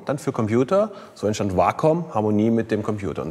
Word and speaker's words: Wacom: betonungsweisen des Begriffs wom es heißt tatsächlich wom weil es ist ja eine japanische company japanische Firma und die Vorsilbe war steht tatsächlich für das Japan den japanischen Begriff Harmonie und das war auch